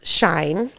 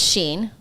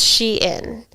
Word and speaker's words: Shein: Um it started as she inside then they shortened it to Sheen. So, I thought it was pronounced shine and I thought it was sheen, but it's sheen.